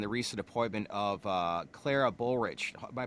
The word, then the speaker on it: Bullrich: Finally, let's talk about your board of directors and the recent appointment of Clara Bullrich. Am I pronouncing her last name Yeah, correctly?